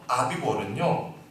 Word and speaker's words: 아빕월: 발음이 참 어려워요. 아빕월입니다. 아빕월. 여러분 거기다 옆에다 한번 적어보세요. 아빕이라고 하는 말은요, 녹색이란 말이에요. 녹색, 초록색. 그래서 아빕월은요 실록의 계절을 의미해요.